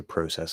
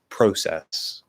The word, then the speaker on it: process: which by the way a lot of canadians will also say process like the british pronunciation um the interesting thing